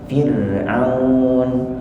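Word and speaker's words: فرعون: kasrah biasanya dibaca tipis seperti kata Firaun Firaun Fir tipis Firaun tapi kalau irjii di sini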